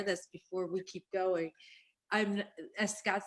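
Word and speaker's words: אמא: emma is spelled but in hebrew there's a hebrew word and we say ima yeah his mother name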